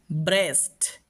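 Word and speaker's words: breast: তবে দুই একটা ক্ষেত্রে আমরা ব্যতিক্রম পেয়ে যাই। যেমন দেখো ব্রেস্ট। খেয়াল করো এখানে ই এ পেয়েছি। এখানে কিন্তু আর ই সাউন্ড করছি না। এখানে এ সাউন্ড করছি। ব্রেস্ট। তো এটা হচ্ছে তার ব্যতিক্রম।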